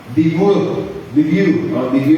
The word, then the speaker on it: debut: Diba sa ating buhay, last Monday I attended debut ba na? If I'm not mistaken, debut ang pag-pronounce nun? Debut or debut? May nagsasabi debut, meron nagsasabi debut, debut. Silent T.